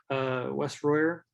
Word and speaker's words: Wes Royer: But myself, Wes Royer, I work at Clarivate. Yes, Gil, you did pronounce it correctly.